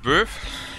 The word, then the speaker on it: Bœuf: Und Böf? Ich kann den Böf aussprechen, ja? Böfs Drogan auf. Es wird Böfs Drogan auf ausgesprochen.